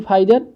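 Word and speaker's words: Pfizer: 2 injection है in clinical trial, P फाइजर, या P यहाँ पे साइलेंट रहता है, फाइजर एंड BioNTech have been testing vaccine require 2 injection, है ना।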